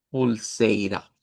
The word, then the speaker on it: pulseira: Pero esta tiene otra variante y es que como es PUL, en algunas regiones aplican el la regla de la sílaba o palabra que termina en L, entonces nos lo van a hacer sonar como que fuera esto mismo, pero en vez de una U, una L. y leeríamos pulseira.